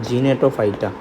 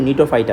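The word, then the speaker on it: Gnetophyta: বুঝছো জেনো জেনোতে হচ্ছে জিনেটোফাইটা আসলে এটার উচ্চারণ কিন্তু নিটোফাইটা বুঝছো সামনে জিগাসে বললে আমি উচ্চারণ করলাম জিনেটোফাইটা কিন্তু মেইন উচ্চারণ হচ্ছে নিটোফাইটা আর হচ্ছে সার্কাস সার্কাসটা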